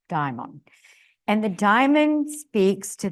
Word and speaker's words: daimon: The daimon states, and it's spelled like demon, but it's pronounced daimon.